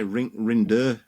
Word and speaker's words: Rinderknech: I should say Rinderknech. Rinderknech is the ATP accepted pronunciation, although I'm told that this differs from overheard in the laundry room in Shanghai.